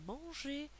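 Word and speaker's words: mangé: vous fais remarquer que la prononciation ne change pas à l'infinitif et au passé euh au participe passé on dit manger manger écouter à l'infinitif écouter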